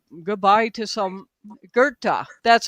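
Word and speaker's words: Goethe: I think it's pronounced Gerta.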